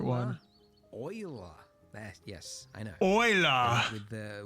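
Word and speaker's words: Euler: Uh, we need to add shift a utilities rotation rotate not uler oil. Yes, I know they went with the weird pronunciation. I think it was a Frenchman.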